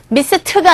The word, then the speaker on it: missed: miss라는 동사에 ed 붙어서 발음이요. missed가 아니라 missed. missed. 아주 약하게 발음이 되고 있습니다. ed 자체가 무성음이잖아요. 그래서 이렇게 약하게 유성음 뒤에서 d로 발음되는데 이 경우에는 무성음 sd에 오기 때문에 missed. 트 사운드가 나요.